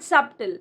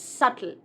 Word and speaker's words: subtle: It's not subtle. Here, B is silent. It's subtle.